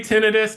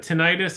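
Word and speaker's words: tinnitus: mispronounced it tinitus is I say tenus but tenius is perfectly acceptable as well so okay so we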